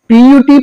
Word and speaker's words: put: तो प्रॉब्लम क्या है कि पीटी पुट होता है बट बी यूटी बट होता है इस यू का उच्चारण कहीं हम यू करते हैं तो इसी यू का उच्चारण कहीं अ होता है अब ये क्यों